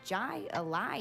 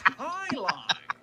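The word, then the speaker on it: Jai Alai: Outside Intelligence is looking to start a competitive Jai Ally team to play against the Bellows. No, I'm going to poison the well. What the heck is Jai Ally? Poison the well. It's pronounced highlight.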